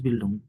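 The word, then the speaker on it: Bildung: House বিল্ডিং হয় না, house বিল্ডুং হয়, ডুম, হাউস বিল্ডুং। আপনারা ভুল শিখছেন যে হাউস বিল্ডাং, এরকম না। এটা হবে কি আচ্ছা আচ্ছা। হাউস বিল্ডুং, বিল্ডাং না, বিল্ডেং না, ওকে, হাউস বিল্ডুং।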